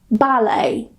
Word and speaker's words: ballet: So if they end with a t, we normally don't pronounce it. For example, ballet, gourmet, buffet or buffet, rapport, ricochet.